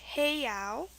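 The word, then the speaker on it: heiau: for that it's pronounced heo it's h e i a u and here an EI is used for the a sound so this is the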